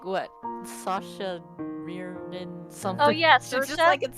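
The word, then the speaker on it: Saoirse: an irish it's like that dirt like what sasha mirrored in something oh yes so yeah that's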